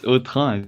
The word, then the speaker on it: Autun: Because in French it's Autun.